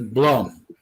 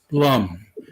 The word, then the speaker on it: Blum: say my name b-l-u-m i would pronounce it as blonde blum and instead of blum and uh all these